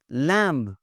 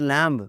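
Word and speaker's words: lamb: लैम्ब, इट्स नॉट लैम्ब, मेमना, इट्स लैम्ब।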